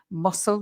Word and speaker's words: muscle: of exercise, to build muscle, remember the pronunciation, muscle, we don't pronounce the C.